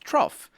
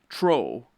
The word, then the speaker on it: trough: the word trough yes trough is pronounced trough and not troll or trough or anyway you and